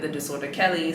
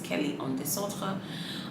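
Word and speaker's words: Kelly en Désordre: the Santa you know if we're trying to say it properly in French some people call it the disorder Kelly some people say Kelly disorder but really if we're being specific it's Kelly on DeSoto um I did ask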